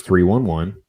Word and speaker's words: 311: 311, which is, just the numbers 311, pronounced 311, is an American rock band from Omaha, Nebraska.